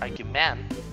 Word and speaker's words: argument: We do not say argument or argument, but argument.